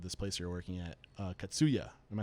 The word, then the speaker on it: Katsuya: At what point I always forget the name of this place you're working at, Katsuya. Am I saying it correctly? Yeah, Katsuya. Yeah, Katsuya.